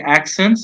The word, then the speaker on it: accents: Some words have silent letters, and here, for example, if we have the word accent, the plural is accents. The T is not there in pronunciation.